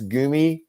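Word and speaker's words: Gummi: know charlotte mentioned that i do pronounce gumi uh bear correctly and it is spelled g-u-m-m-i that's the actual german it's a gummy bear not a gummy bear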